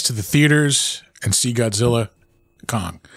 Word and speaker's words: Godzilla x Kong: the theaters and see Godzilla Kong I almost said the X not supposed to say the x x is silent yeah scissors uh was